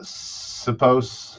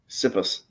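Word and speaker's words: Sipos: that's pretty pretty self-explanatory elliot uh suppose is that how you pronounce it syphilis i think uh s-i-p-o-s suppose sippus like we're supposed to know how to pronounce his name apparently uh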